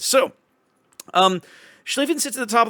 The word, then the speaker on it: Schlieffen: comments like, hey, dummy, it's a long I or a long E. You're doing it wrong, so sorry. But we got it right now. This is actually called Schlieffen, the same way that the IE in Zieten is pronounced the way it is.